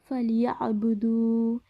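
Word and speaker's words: فليعبدوا: ফালিয়াবুদু, এখানে ইয়া আইনকে আমরা গলার ভেতর থেকে উচ্চারণ করব।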